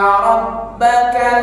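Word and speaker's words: رَبَّكَ: Inna rabbaka labil mirsad. Coba dengar. Inna rabbaka labil mirsad. Inna rabbaka labil mirsad. Sama-sama. Inna rabbaka labil Sekali lagi, ro hukum bacanya ro tafkhim. Alasannya ro berharokat fathah, dibaca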